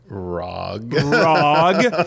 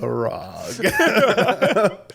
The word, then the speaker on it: ROG: It's like Rog Roger. you, We call it dude. the Rog. Rog, you guys. It's short for Roger. The Rog Roger for LIS. me. No, it's a hard G. It's ROG for gamers.